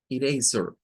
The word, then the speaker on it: eraser: Ahora, miren quién vuelve a aparecer en la última sílaba, ¿ve? Donde está la S, la E y la R. Esta E, miren en qué se convierte, en schwa. Eraser, eraser.